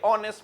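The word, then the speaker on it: honest: ना के शी हैज इनकी आदत है एच को साइलेंट करने की ब्रिटिश जो है एच को साइलेंट कर ज्यादातर यूं बोलेंगे हेलो ना के hello you आर a very ऑनेस्ट मैन यू are very नेस्ट मैन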